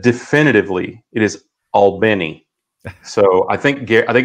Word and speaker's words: Albany: if if you're wondering that's that's the way the locals say it but you know there's an albany in like 26 states or something like that so so you know i think it depends on where you are i've always been fascinated